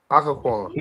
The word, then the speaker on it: Occoquan: Occoquan. That's how you pronounce it.